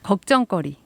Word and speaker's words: 걱정거리: 누구 욕할 때 그쵸 걱정거리 마찬가지로 거리를 붙여서 걱정 거리 라고 쓰고 발음은 걱정거리 로 되는게 맞습니다 여러분들 재미난 그 새끼들